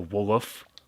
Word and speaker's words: WLOF: They don't, like, if they have an abbreviation like WLOF there, they don't say each letter individually like we would in English. They say it like one word.